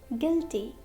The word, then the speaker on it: guilty: Letter U is silent after a G and before a vowel. For example, colleague, guitar, guitar, guidance, guidance, guest, guest, guilty, guilty, tongue, tongue, guard,